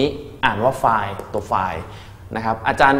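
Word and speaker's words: φ: ก็ อ่าน ว่า ไล บาง คน ก็ อ่าน ว่า ฟี แต่ พี่ ขอ อนุญาต อ่าน ว่า ไฟล นะ ฮะ Delta f คือ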